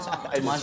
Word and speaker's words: Thomaz: Thomaz, because it's got a Z at the end there.